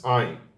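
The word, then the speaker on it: עין: Ayin is pronounced just like Aleph, okay? So it just takes the vowel after it. The correct pronunciation and maybe the old pronunciation is in the throat, but today we are too lazy to pronounce it like this, so we just pronounce it like Aleph, like ah, okay?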